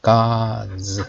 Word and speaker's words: gods: Gods 이렇게 하시면 됩니다. Gods. 자, 그 DS 발음을 Z 발음하시면 되겠어요.